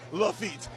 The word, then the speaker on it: Lafitte: Just like pig feet, it rhymes with the Pirate Lafitte.